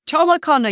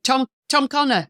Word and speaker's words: Tom O'Connor: Nobody liked you getting the name wrong because they would say, dear me, it's Tom O'Connor. You know, if I'd said Tom Connor, you know, Tom O'Connor, the O was very precise.